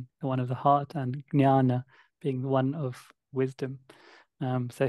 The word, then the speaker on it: jnana: When it's written jnana, do you actually pronounce it jnana with a G?